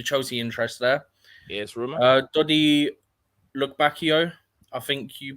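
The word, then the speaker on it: Dodi Lukebakio: Dodi Lukbakio, I think you pronounce it, he's at Sevilla, and then Openda Leipzig.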